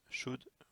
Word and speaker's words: should: could, may, might, must, should, will et would. Attention d'ailleurs à la prononciation, vous avez bien vu que pour could, should et would, on ne prononce pas le L.